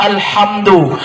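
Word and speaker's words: الحمد: Pertama alhamdu, haknya pakai kecil. Alhamdu ya. Alhamdulillah, segala puji bagi Allah. Jangan pakai hak besar.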